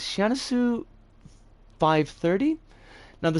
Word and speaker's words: Syanisu: But the creator's name is Sianisu. I think it should be pronounced because I'm pretty sure this creator is Japanese. Sianisu 530.